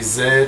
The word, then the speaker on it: Z: we're letting Z or Zed U yeah Americans say Z Canadians British say Zed Australians say Zed uh whatever okay so